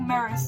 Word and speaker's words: Maris: So in the beginning of the series, he's married to this woman called Maris, who they pronounce like Maris, like Ferris wheel, and it really bothers me that they pronounce it not like it's written.